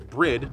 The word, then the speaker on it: Bride: Brid, not Bride, I know it's spelled that way.